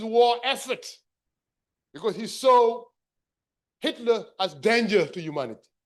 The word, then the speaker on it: Hitler: to fight this war caused by somebody called Ikiler. It's most likely what happened is that some of the people who were wounded came back and they mispronounced the name Hitler or Hitler.